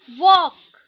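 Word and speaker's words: walk: एल्क एल्क, टॉक टॉक, वॉक वॉक, योक योक। ठीक है, यहाँ पे देखो एल जो है वो साइलेंट है। ठीक है, टॉक वॉक योक, ये साइलेंट है।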